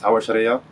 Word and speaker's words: Aouachria: In Arabic, that's Aouachria, but in English, that'd be more like Aouachria.